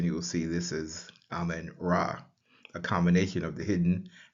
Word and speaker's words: Ra: That is transliterated with the letters RA, and we would say that's Ra.